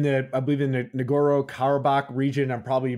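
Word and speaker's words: Nagorno-Karabakh: it was in the I believe in the ngoro kabach region I'm probably mispronouncing that like crazy no that's right yep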